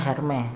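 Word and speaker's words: Hermès: Hermes. Tapi dibacanya Hermes.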